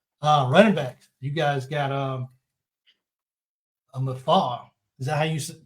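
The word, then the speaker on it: Mafah: Running backs, you guys got Mafar. Is that how you pronounce his name? Will Shipley and Phil Maffa. Maffa, okay.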